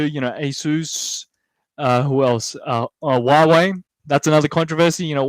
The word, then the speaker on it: Huawei: That's how you pronounce it with in Chinese, basically. It's Huawei. Hua meaning like wow, Huawei. So Huawei. If you say Huawei, that's fine too.